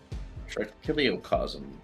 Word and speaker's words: trichiliocosm: Yeah, trichiliocosm is fine. Like, that is pretty accurate. If that's what you want. No, I just wanted to make sure I was pronouncing it correctly. Oh, no problem. Yeah, Kili is 1,000 in Greek. Okay. I see. Yeah, cosm is world.